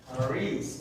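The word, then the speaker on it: χάρις: Hopefully, vemos esa palabra que está escrita aquí, charis. Caris, Charis. Caris. Say it confidently 3 times fast. A ver, repitan esto rápido, 3 And veces. that's how you say it.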